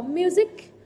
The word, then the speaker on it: music: Cô có music, music, âm gì đây ạ? Đuôi IC, đúng không? Trọng âm rơi vào âm tiết trước nó.